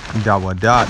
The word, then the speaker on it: Dawad: You have the word Dawada. That's the Hebrew characters, Dawada. But it's ultimately pronounced Dawad. And sometimes the transliteration helps you pronounce the word, you know, but it's spelled differently. But it's D-A-W-A-D, Dawad, which means beloved, beloved